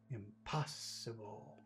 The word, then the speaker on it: impossible: and enjoy what is where's the accent in impossible impossible it's in the middle pass make it big make it longer it's an important word